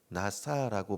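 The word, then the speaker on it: נשא: 여기서 삶을 봤다라고 번역된 히브리어가 중요한데 나사라고 발음하고 있습니다.이 이 단어의 기본적인 뜻은 들어올리다, 짊어지다, 가져가다 이런 뜻을 갖고 있습니다.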